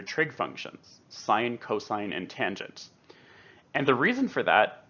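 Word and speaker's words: tanh: adding in the numerator there's also a hyperbolic tangent which is usually pronounced tange of t and that's defined exactly how you would expect if tan is sine over cos then tanch should be cinch over cosh that being the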